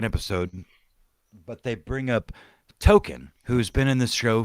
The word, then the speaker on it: Tolkien: It's just pronounced Token.